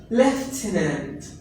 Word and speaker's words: lieutenant: that word for example here eu it gives sound for sound in french that's why we pronounce it as lieutenant what's that lieutenant was